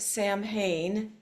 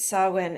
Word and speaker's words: Samhain: It's spelled Samhain, so if you hear somebody saying Samhain, you know they don't practice Samhain. Who would know? It's a weird spelling, Samhain.